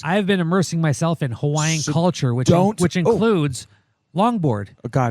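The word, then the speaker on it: Hawaiʻi: How do you actually spell Hawaii? HAWAI''. Oh my God! Hells yeah! And the proper pronunciation, Hawaii.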